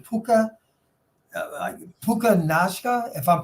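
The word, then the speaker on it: Puka Nacua: a small school I believe didn't he PUK puka Nuka right Nuka yeah Nuka NAA um BYU that's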